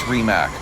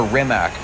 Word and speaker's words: Rimac: decided it's okay to call this remac they don't mind or remac they're actually fine with both so let's just leave